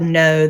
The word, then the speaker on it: know: This is the type of know that you know something in your brain or you understand something in your head. So it starts with that silent K and it ends with that W.